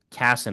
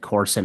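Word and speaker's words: Cason: LJ Casson, I keep saying his name wrong. I said Corson a lot of times.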